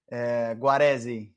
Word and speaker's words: Guaresi: Guaresi.